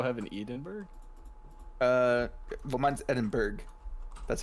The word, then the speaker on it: Edinburgh: Well, mine's Edinburgh. That's how you pronounce it.